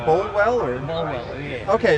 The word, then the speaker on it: Bolwell: Bolwell, yeah.